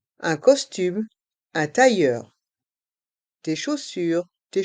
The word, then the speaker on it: chaussure: Chaussures, chausson. Et dans chausson, les lettres O et N ont le son on. Chausson. Dans chaque mot, la lettre S est muette.